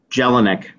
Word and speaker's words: Jelinek: Jelinek. Mr. Jelinek, one, I want to congratulate you for your